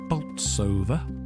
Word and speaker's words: Bolsover: Apparently the proper way to pronounce it is Bolsover, if you have a noble tongue.